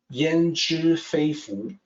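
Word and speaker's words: 焉知非福: Then let's take a look at the second half, Yan Zhi Fei Fu. So here's the pronunciation. It's more like an E sound here instead of yan. It's yan, Yan Zhi Fei Fu.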